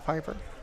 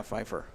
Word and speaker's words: Fifer: on that reception Sage Piper yep no that was yes you're right it's spelled weird it's not with a p it's with an F EJ f a r fer yeah Fifer so he actually lost